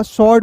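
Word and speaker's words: sword: यहां पे देखिएगा शॉर्ट पढ़ते हैं।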